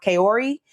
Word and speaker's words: Kaori: And then we have, I believe her name is pronounced Kaori.